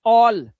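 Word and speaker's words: all: तो ए का उच्चारण क्या हो जाएगा? अब ए का उच्चारण हो रहा है। ओ देख रहे हो? अ ए औ। ओ अब ओ की आवाज निकालनी है। कैसे निकालोगे? ध्यान से देखो कैसे निकलेगी ओ की आवाज। ठीक है? देखो ओ ल ऑल कॉल टॉल इसने डबल एल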